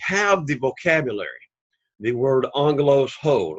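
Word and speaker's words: ἄγγελος: So you would find the accent on that particular case, which would be angelos, which would be in the first syllable, the antepenult, angelos.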